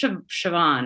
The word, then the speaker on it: Siobhan: I have I know it's Siobhan, right? Yeah. I have such a hard time remembering how to pronounce that name.